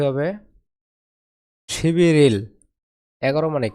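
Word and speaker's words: 십일일: শিবিরিল। 11 মানে কি? শিবিল। শিবিল মানে 11 আর তারিখ মানে ইল। উচ্চারণ কি দাঁড়ায়? শিবি রিল। বিউপ ইং স্থানে গিয়ে ব হবে, আর রিউল ইং স্থানে গিয়ে র হবে।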